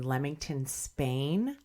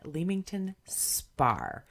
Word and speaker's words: Leamington Spa: an abbreviation for Spain but it's pronounced spar oh yeah Aleister Crowley was born in Leamington Spa I assumed it was